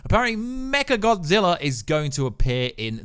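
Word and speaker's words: Mechagodzilla: gonna be mecha godzilla I'd be saying mega but apparently it's pronounced mecha godzilla very mecha godzilla is going to appear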